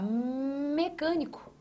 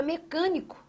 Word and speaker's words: mecânico: Ótimo, porque a palavra mecânico traz em sua tonicidade aqui ó, a sílaba can. Ó, mecan, você não fala mecânico nem mecânico, você fala mecânico. Então, você tem a sua tonicidade ali, ó, marcada em can.